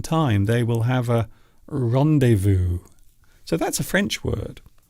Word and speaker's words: rendezvous: So we don't even change the meaning or the pronunciation. We still use the actual French word. And it does happen quite often. I suppose some good examples would be rendezvous, rendezvous, A rendezvous is